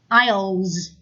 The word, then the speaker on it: aisles: rolling in the aisles aisles the first S is silent okay huh here are